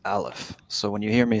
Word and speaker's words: aleph: the first letter of the hebrew alphabet is pronounced alef so when you hear me say aleph one that's that's where that's coming from and